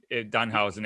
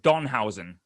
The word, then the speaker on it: Danhausen: angry would you be dunhausen if somebody always spelled your name wrong said it wrong and they called you say don hausen yes if they said don housing he would be angering and also if they